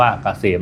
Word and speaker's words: เกษม: Sign นำ หน้า นะ K SCM อ่าน ว่า เกษม นะ ครับ สำหรับ ท่าน ที่